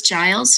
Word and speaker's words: Giles: I don't have anything attached to it, but it is Giles and not many people say it correctly.